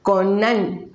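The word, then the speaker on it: קַנָּא: Entonces viene, como van a ver ahorita en su pantalla, así se escribe, se pronuncia Conán, con doble N.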